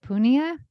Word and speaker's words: Punia: The next one is, and I pronounced it Punia. I believe that in Hawaii that you pronounce in Hawaiian language, you pronounce all the vowels.